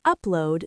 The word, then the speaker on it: upload: I need to upload this video. Deep dive. Upload. Stress. The first part.